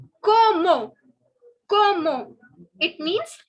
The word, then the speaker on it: comment: So please, please, please don't make the mistake of saying comment. It is not comment. It is como.